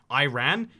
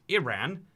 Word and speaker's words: Iran: Yeah, a lot of people think this country is pronounced Iran. It's pronounced Iran, unless you're trying to describe what you should